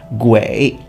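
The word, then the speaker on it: 鬼: because that character, which in Mandarin Chinese is pronounced Gui, originally meant ghost.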